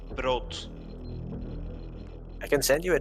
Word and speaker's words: brood: And bread in Dutch is spelled instead of EA with a double O, so it's brood.